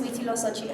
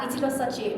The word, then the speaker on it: Huitziloxochitl: Yeah, Huitziloxochitl means hummingbird in a flower. It's Nahuatl. It has 5 syllables, and I hated it